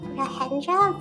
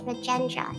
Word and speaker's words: Rajendra: I thought it's pronounced Rahendra, but then I listened to the dub just to make sure, and it's Rajendra.